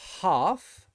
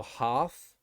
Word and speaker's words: half: will also say bam but for the word half so half it is an r sound for british english but for americans it's an ah sound so it'd be half so for british english